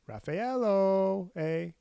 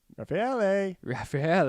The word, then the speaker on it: Raffaele: She's with Raffaello. Raffaele. I got the name wrong there.